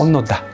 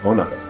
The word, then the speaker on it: Onoda: Is that how it's pronounced? Onoda. Onoda.